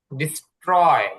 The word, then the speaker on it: destroy: ডিস্ট্রয়, ধ্বংস করা। ডিস্ট্রয় ধ্বংস করা। এখানে দেখুন, যে টিটা আছে সেটা ট এর মতন উচ্চারণ হবে, এটা ঠ হবে না।